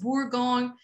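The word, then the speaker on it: Bourgogne: to burgundy okay so um let's see how bourgoin or burgundy so it is exactly the same thing okay just borgon is the french pronunciation burgundy is the american or the english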